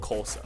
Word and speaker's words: Xhosa: The language my guide speaks is called Xhosa.